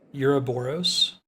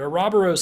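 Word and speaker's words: Ouroboros: talked about this um apparently if you look up the pronunciation it's supposed to be pronounced uh uroboros um which is like the Greek pronunciation the serpent eating its own tail but arabos sounds way cooler as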